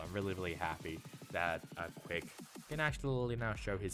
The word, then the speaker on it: QCK: It was interesting as well that QCK, or Quick, how I like to say, because that's actually how you say it's Quick.